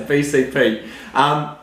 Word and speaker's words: BCP: The Bogan Church Podcast, the BCP. I think is that right? BCP? Yeah, B for Bogan, C for Church, P for Podcast. Okay, T. So it's the TBC. No, No. the T is silent.